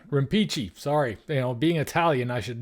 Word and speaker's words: Rimpici: Is that how you pronounce it? Rimpici. Rimpici.